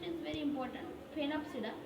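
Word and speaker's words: Sphenopsida: Phenopsida, S is silent.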